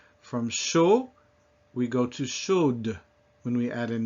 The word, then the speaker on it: chaude: lot of these words when you add a final E, which is not pronounced in itself, but then will cause the consonant before it to be pronounced when it wasn't before.